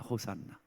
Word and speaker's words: 호산나: 여러분, 구하옵나니 구원하시옵소서, 이거를 히브리어로 호시아나 이렇습니다. 호시아나. 여러분, 이걸 좀 빨리 발음해 볼까요? 그렇죠. 센스가 있으시네. 호산나입니다. 호산나.